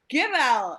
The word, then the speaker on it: Gibel: Our next comic is Stuart Gibel. Is that the right pronunciation of your last name, sir?